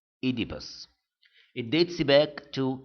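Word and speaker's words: Oedipus: And by the way, it is pronounced Idibus.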